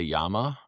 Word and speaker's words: Yema: Those brands are Yema, i.e.m.a. You'll hear the French say Yama.